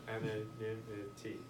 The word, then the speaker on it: anonymity: As in anonymous, but anonymity. I think that's the pronunciation.